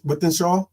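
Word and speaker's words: Wythenshawe: football referee from uh how do you say that with shw yeah when when with Shaw with Shaw wh Shaw okay with with wh Shaw with yeah yeah with as in with you and with me so withen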